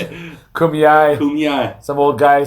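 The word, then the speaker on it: Kumeyaay: Kumayai. How do you say it? Kumyai.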